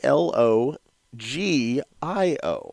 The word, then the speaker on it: Elogio: track this cigar down its elo gee I oh yes the G is low he owes an H in the pronunciation in the cigar world well I'm a Latin